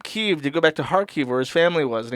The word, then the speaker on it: Kharkiv: Kharkov is the Russian pronunciation for Kharkov. Kharkiv is the Ukrainian pronunciation.